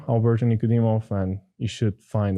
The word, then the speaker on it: Alberto: look up my name alberton ikodimov and you should find a bunch of posts spell it for everyone okay alberto just like albert with an o at the end a-o-b-e-r-t-o and then my